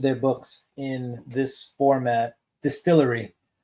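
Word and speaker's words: DSTLRY: books in this format distillery that's what Distillery yeah it's spelled dstl r y cool cover yeah so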